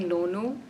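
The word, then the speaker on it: Nonu: was it my parents used to call me lono so wait spell it n-o-n-u no no yeah okay yeah it's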